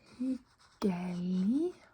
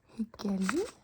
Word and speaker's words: hyggelig: Hyggelig å møte deg. Hyggelig å møte deg. Nice to meet you. So in the word nice or hyggelig, we don't pronounce the G at the end.